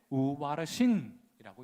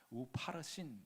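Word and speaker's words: ופרסין: 기록된 글자는 이것이니 곧 메네 메네 데겔 우바르신이라고 읽는 것입니다. 우파르신 이렇게 읽는 거예요.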